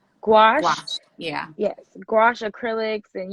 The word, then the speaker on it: gouache: with is watercolor uh how do you say gouache gouache gouache yeah yes gouache acrylics and you know of